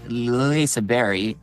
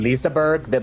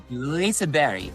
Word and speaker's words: Liseberg: me I mean, Liseberg, but it's said Liseberg, because it's kind of like French, like you just touch the G and it's more like a Y. So, Liseberg.